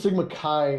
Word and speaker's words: Sigma Chi: appears here Rod yeah I think it's Sigma Kai I think is how they pronounce it but yes and